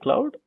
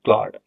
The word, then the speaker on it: Claude: It's not cloud, it's Claude. So this is how we pronounce it. It's Claude, not cloud.